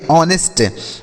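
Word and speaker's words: honest: क्या पढ़ेंगे साथियों ऑनेस्ट इसे आपको नेस्ट नहीं पढ़ना है क्यों सर क्योंकि यहां पर जो एच लिखा गया है ना यह साइलेंट है इसे नहीं पढ़ते हैं तो इसे पढ़ेंगे ऑनेस्ट अब ऑनेस्ट मतलब होता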